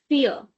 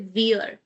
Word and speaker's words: vier: Number four is called "vier". Now, in the bracket I have written the like spelling or the pronunciation that it's giving. It's like "fear". Fear of English.